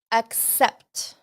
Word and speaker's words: accept: The A, to accept, you don't have to go like this with your mouth. Accept. You can say to es casi como una E. To accept.